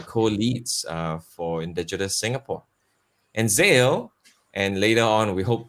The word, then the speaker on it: Xael: Yeah, I’ve got to know got to know Xael, and that's how you pronounce his name - Xael.